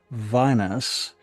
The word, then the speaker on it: Vinus: Vinus. Think wine. Vine vine as in wine.